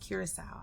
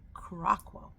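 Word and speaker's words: Curaçao: Now, the funny thing is I didn't know it was pronounced Curacao. I used to pronounce it Curacao.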